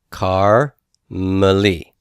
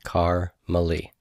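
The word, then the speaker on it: כרמלי: one is not vocal the first one is silent the second one is vocal so this is car no sound and then Mali car Mali and in terms of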